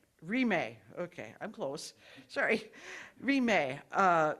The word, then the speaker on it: Rimé: It's pronounced Rimé. Rimé.